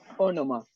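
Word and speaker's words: ὄνομα: Ya, Ónoma. Ónoma, ¿cierto? Ónoma. Entonces, tiene un espíritu suave, no se pronuncia.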